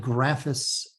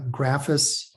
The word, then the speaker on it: Graphis: Graphis or Graphis. You could probably start a fight in a bar if you wanted to discuss the proper way to discuss this, to pronounce this, depending on where you are.